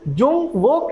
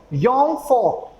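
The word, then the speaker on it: Jungvolk: जे को German language में पढ़ा जाता है यॉट, और जो वी है उसको पढ़ा जाता है फाव। तो इस वजह से इसका जो प्रोनाउंसिएशन है वो हम लोग क्या पढ़ रहे हैं? दैट इज जुंग वोक नहीं पढ़ेंगे, इसका प्रोनाउंसिएशन क्या हो जाएगा? योंग फोक।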